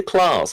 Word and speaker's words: Sinterklaas: Nicholas yeah with cinta Klaus or Sinterklaas see the claws I think it is not Klaus sinter Klass he of course has his sidekick